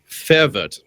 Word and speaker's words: verwirrt: Fervert. Verwit. Fervert. Oh, okay. I'm not expecting you to put on a German accent because essentially everyone is. B is an F.